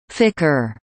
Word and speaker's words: FCR: The room where the flight controllers work was called the Mission Operations Control Room, MOCR, pronounced Mo-cur, and now is called the Flight Control Room FCR, pronounced Ficker.